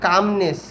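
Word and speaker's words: calmness: মানে হাঁটা তার মানে এখানে কামনেস এল বলা যাবে যাবে না কামনেস কামনেস মানে শান্তিপূর্ণ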